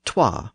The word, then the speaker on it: twa: the North so Cher's Northern characters say things like SWA for so and alwa for Alo and TWA for two they simply retained the old English pronunciations another major north south